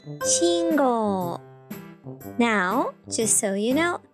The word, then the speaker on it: 信号: For example, teacher is pronounced sensei and traffic light is pronounced 信号.